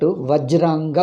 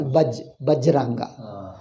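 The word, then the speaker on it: वज्रांग: Vajranga Bali. Vajranga, Va they pronounce as Bajranga.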